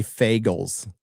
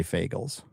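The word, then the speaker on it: Fagles: And it's by It's translated by Robert I'll say Fagels. There's another way to say his name, but I'll say Fagels.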